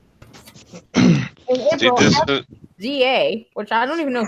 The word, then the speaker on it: SZA: No, Z, Oh. as in Zed. Wait. some what zero is- American. Yeah, SZA. Oh, SZA. Oh. That's how you pronounce it? SZA, and it's SZA.